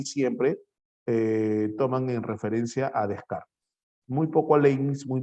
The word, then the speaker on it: Descartes: Se pronuncia Descartes. Nosotros en español, Descartes.